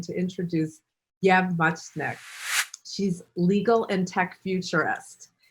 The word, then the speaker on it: Muchnik: Muchnik. Am I saying it right? Muchnik, yeah.